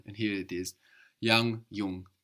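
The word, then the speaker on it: jung: same in German and here it is Yang Yung how would you say my brother is young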